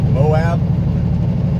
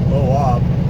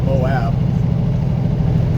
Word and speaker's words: Moab: i go through moab i pronounce that right moab not boab it's moab apparently uh it makes